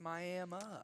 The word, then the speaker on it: Miami: It's spelled Miami, but it's pronounced Miami.